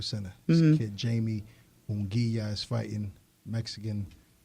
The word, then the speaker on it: Munguia: And I'm glad you said that because I needed help pronouncing that name. Yeah, DAZN. No, What? the boxer's name. Oh, Yeah. Jamie. Munguia.